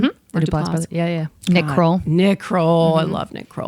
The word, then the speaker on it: Duplass: Is that how you pronounce his last name? Mm-hmm. Mark Duplass.